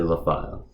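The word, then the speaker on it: Lafayllve: A Practical Heathen's Guide to Asatru by Patricia LaFile. Yes, that is actually how you pronounce her last name.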